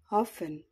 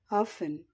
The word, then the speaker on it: often: silent letter words silent t epistle epistle bristle bristle bustle bustle castle castle fasten fasten glisten listen hustle hustle listen listen moisten moisten often often